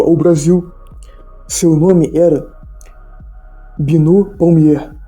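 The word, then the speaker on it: Binot: Seu nome era Binô Palmier.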